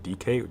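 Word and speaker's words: dike: a greek notion called i think it's pronounced dk d-i-k-e with uh accents somewhere in there and that just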